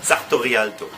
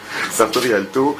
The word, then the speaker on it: Sartorialto: Oui, ça m'a été gracieusement offert par Sartorialto. C'est comme ça qu'on prononce ça? À l'italienne, j'imagine? Sartorialto. Sartorialto, ouais.